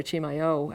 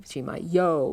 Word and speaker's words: Chimayo: Powaki, Tasuki, Chimayo with the yo on the end of it.